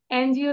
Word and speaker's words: NGO: এনজিওর আগে কেন আমরা অ্যান দিলাম?